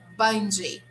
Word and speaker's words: bungee: a different way right we say bungie bungie jumping right but in english oh sorry have fun yes it's true marcus i agree yeah it's very bad i don't like it in english the pronunciation of this word is bunji okay so yes you're